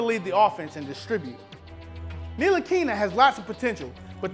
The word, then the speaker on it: Ntilikina: Number 4, Frank Ntilikina. Why is there a T in his name if you don't pronounce, if it's silent?